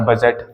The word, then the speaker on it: budget: Next example हो जाएगा हमारा बजट, BUDGET, बजट।